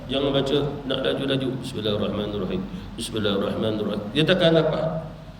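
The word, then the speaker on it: بسم الله الرحمن الرحيم: Bismillahirrahmanirrahim, baca dengan tajwid, baca dengan syaddah. Jangan baca nak laju-laju. Bismillahirrahmanirrahim, Bismillahirrahmanirrahim, dia takkan dapat. Syaddahnya Bismillahirrahmanirrahim, 3 syaddah.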